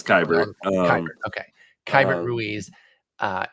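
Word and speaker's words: Keibert: keeper kyber um and can somebody tell me how to pronounce this goddamn name because I say it wrong I believe it's kyber um okay kyber Ruiz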